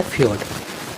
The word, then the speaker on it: fjord: और अगला जो स्थलाकृति है उसका नाम है फ्योर्ड। स्पेलिंग थोड़ा अलग है, FJORDS, लेकिन इसका प्रोनाउंसिएशन है फ्योर्ड।